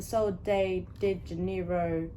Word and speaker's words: Sol de Janeiro: First of all, did we get the Sol de Janeiro, that's how you say it, dupes?